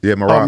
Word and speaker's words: Merab: Merab.